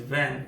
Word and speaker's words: vingt: NEUF NAF this NAF 20 20 is VAN VINGT VINGT INA VIN VAN GT VAN VIN GT is silent INA VIN VAN GT